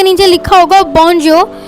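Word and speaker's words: bonjour: यहाँ पे आप देख रहे होंगे फॉर्मल के नीचे लिखा होगा बॉन्जियो। हम अगर उसे इंग्लिश में पढ़ेंगे तो वो हम रीड करेंगे तो वो आएगा बॉन्जोर, बट फ्रेंच में इसकी प्रोनाउंसिएशन होगी बॉन्जो।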